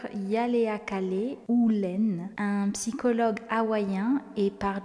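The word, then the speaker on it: Ihaleakala Hew Len: le docteur ou là attention à la prononciation le docteur yaleakalé ou Len un psychologue hawaïien et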